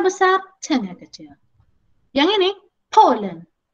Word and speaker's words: Poland: Yang ini, Poland. P-nya besar, L-nya kecil.